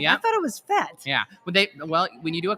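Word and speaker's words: fête: So it's FET booth is kind of the traditional French That's what I pronunciation, but if you are kind of French Canadian, you do pronounce it more Fate. So a lot of the blues players call it Fate booth.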